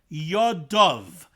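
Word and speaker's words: ידיו: now in that perfect it is pronounced yadav yadav is Lush and Robin his hands plural both hands but it's written you'd dalid vov which could be read your day which would be the singular one hand remes from there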